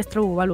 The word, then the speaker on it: Stardew Valley: me hace ni caso cuando le laslo se pronuncia estad balu vale Cómo estadu balu Bueno aquí nos vemos